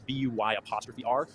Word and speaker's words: BUYR: And so if you want to find that, it's BUY''R, not spelled like normal Buyer.